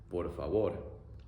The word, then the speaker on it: por favor: In Spanish, please is por favor. Por favor.